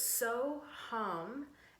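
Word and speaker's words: So Ham: So it's So Hum, S-O, and then H-A-M, but it's not like ham, like we would normally pronounce that over here in Canada or in sort of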